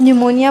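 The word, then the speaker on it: pneumonia: जैसे इंग्लिश में आप न्यूमोनिया बोलोगे तो पी से लिखोगे, पर पी साइलेंट है।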